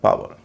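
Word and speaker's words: power: ई आर टावर पी ओ डब्ल्यू ई आर पावर इस list में अंतिम तीन जो शब्द हैं उसमें हम आऊ का उच्चारण करते हैं।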